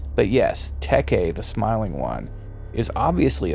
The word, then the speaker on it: Teke: It's not a coincidence that Teke the Smiling One, who I mispronounced as Teak in some of my previous videos, but having gone from paperback to audiobook, I now see my mistake. But yes, Teke the Smiling One is